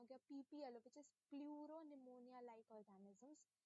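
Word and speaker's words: pleuropneumonia: तो यहाँ पे इसका क्या मतलब हुआ, देखो पी स्टैंड फॉर पहले का प्लूरो, उसके बाद नेक्स्ट पी निमोनिया, यहाँ पे ये वाला जो पी है ये साइलेंट होता है, ठीक है, ये बात नोट कर लेना।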